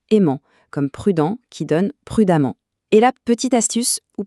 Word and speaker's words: prudemment: comme prudent qui donne prudemment. Et là, petite astuce ou plutôt petit piège, attention, la prononciation est la même. On dit amant dans les deux cas.